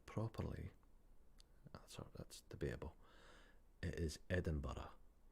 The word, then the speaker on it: Edinburgh: It is Edinburgh. Edinburgh. Edinburgh. Not borough or whatever.